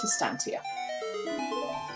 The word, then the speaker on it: Estancia: be in Wasteland um how do I say my name I pronounce it Estancia also good points